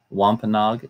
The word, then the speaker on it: Wampanoag: that was part of that were called the Wampanoag wampa nog is spelled w AM PA n o a G